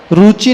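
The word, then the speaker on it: रुचिभिः: सा ह कोचर यह शांत राग रुचि नहीं पढ़ना रुचि छोटा उ है उसमें तो रुचि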